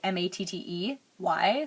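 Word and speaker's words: Mattey: So this first one is, I think it's supposed to be Métis, but it's actually spelled like matte, like M-A-T-T-E-Y, so matte-y.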